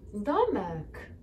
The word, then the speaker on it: domek: Domek.